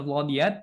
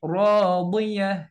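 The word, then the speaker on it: راضية: Jadi tidak dibaca 'ishatir radiyat. Nah, bukan radiyat tetapi radiyah.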